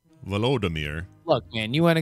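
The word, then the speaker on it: Volodymyr: today uh ukrainian president vladimir zielinski i hope i'm saying it right vladimir i think it's it's vladimir is it vladimir it's v-o-l-o-d velodemir look man you want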